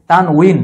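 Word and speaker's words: تنوين: অনেকে বলে তানবিন। তান উচ্চারণটা ভুল। তানউইন কারণ ওয়াও এর নিচে কাসরা আছে জ থাকলে এর উচ্চারণ হছে উই তানউইন তাহলে তানউইন যদি থাকে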